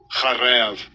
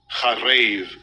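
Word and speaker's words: חָרַב: Charev. Second entry. Charev. Right. That's how you say it, and it basically means to be waste, lay waste, make desolate, be in ruin, right?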